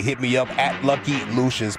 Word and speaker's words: Lucious: me up at Lucky Lucious P. All right. On social media, that is L U C I O U S. Pronounce it Lucious, not Luscious. Not Luscious.